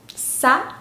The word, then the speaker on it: sad: 아 발음이에요. 에가 아니라 아. sad, sad. 이렇게요.